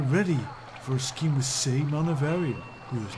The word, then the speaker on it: Saemon: Oh, he pronounces it Simon. I think it's really pronounced as Saemon.